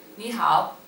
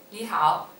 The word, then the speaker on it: 你好: You want to say hello to somebody, so we start by saying 你好. 你好.